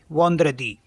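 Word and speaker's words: vendredi: होता है स्टार्टिंग का उसी में जो है स्पेलिंग है इसकी वी ई एन डी आर ई डी आई वंद्र दी इसे हिंदी में बोलते हैं शुक्रवार और शुक्र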